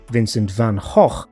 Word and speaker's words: Vincent van Gogh: Famously now celebrated painter Vincent van Gogh, or to give him his correctly pronounced Dutch name, Vincent van Gogh, received little praise during his life.